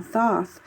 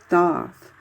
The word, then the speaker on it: Thoth: not pronouncing it right this is my way of pronouncing it as thoth not toss because there's a th at the beginning so i don't understand why some people are saying toss um instead of doth i don't know it